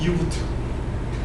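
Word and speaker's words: U-Boot: 표준의 부트로드 만들자라고 해서 유니버셜 로드라는게 있어요 발음은 유부트 근데 그거 인벤 리스에서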